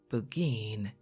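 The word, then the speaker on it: Burgoyne: He pronounced it bugin, which my informant used to borrow.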